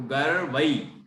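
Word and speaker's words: गर्वैः: दोषई रूपात, दोषई रूपात विविधाश्रय, विविधाश्रय जात गर्वई, गर्वई, गर्वई, आई की मात्रा के ऊपर रा की रेफ दिख रही है, उसको गा के बाद पढ़ेंगे तो गर्वई ऐसा पढ़ा जाएगा।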